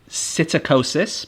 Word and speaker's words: psittacosis: So parrots can get something called psittacosis, but with a silent P at the start, and it's known as parrot fever.